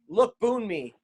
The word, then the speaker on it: Lookboonmee: She's fighting Laura Lookboonmee. What? That is legitimate. I'm staring at it right now. And it's spelled L-O-O-K, look, Boon, B-O-O-N, me, M-E-E.